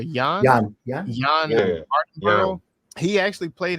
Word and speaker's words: Jann: I think it's pronounced John or Jann.